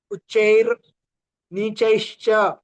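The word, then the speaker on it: उच्चैर्नीचैश्च: सूत्र उच्चारण उच्चैर उच्चैर नीचैश्च, दोनों च में डबल मात्रा है और पहले च के बाद र का भी उच्चारण करना है।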